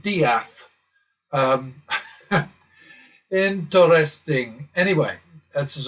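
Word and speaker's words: Death: It's spelled D E A T H and they pronounce it dath.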